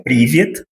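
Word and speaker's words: привет: nós pronunciamos como privi e ela significa oi, né?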